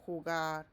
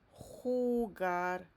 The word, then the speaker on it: jugar: So we have here me gusta jugar a los videojuegos. Remember this J, it sounds like H in English.